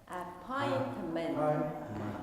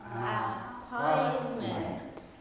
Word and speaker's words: appointment: Appointment. Show me with your hands. Appointment. Appointment. Okay. One more time. Show me. Appointment. Great. Appointment. The stress for appointment is on the second syllable.